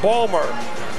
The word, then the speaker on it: Baltimore: He comes from Baltimore, as it's pronounced there, Balmer.